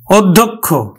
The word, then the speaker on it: অধ্যক্ষ: কিন্তু ওকার হয়ে যাচ্ছে আর আমরা জানি কখের মত উচ্চারিত হয় অধ্যক্ষ তাহলে অধ্যক্ষ কখের মত